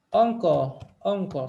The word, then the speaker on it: uncle: Onco. Se escribe así, pero se pronuncia onco.